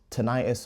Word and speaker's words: tinnitus: So I had heart palpitations, muscle twitches, tinnitus or / ringing in my ears, tinnitus or tinnitus, however you want to pronounce it, ringing in my ears.